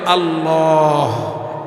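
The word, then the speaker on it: الله: পকেটের মধ্যে, সকলে মিলে সহি উচ্চারণটা হবে আল্লাহ, আরো জোরে বলেন আল্লাহ। শেষে হা আছে, ধাক্কা দিতে হবে, কলবে যেন ধাক্কা আসে, বলেন আল্লাহ, আরো জোরে বলেন আল্লাহ।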